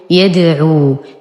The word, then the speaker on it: يدعو: نلاحظ وجود الصفر المستدير فوق الألف المرسومة بعد الواو في كلمة يدعو، وهذه الألف لا تنطق وإنما وجدت فقط للتفرقة بين واو الجماعة والواو المدية، فنقول يدعو وليس يدعوا.